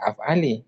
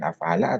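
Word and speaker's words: أفعالِ: Maka bacanya af'ali bukan af'ala atau af'alu ya.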